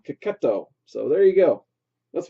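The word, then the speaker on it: Checchetto: So at least that's how CB Cebulski pronounced his last name, Cacchetto.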